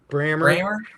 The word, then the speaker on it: Brammer: As with anything, Jeremy Tyndall making the point that Jason Brahmer or Brant, how do you say that back when you're from Brammer. Yeah, Brammer. Brammer.